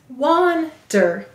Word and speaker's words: wander: Let's sound it out. The first syllable is wan, w, a, n. The second syllable is der, d, er. Use the er of her. Go ahead and write wander.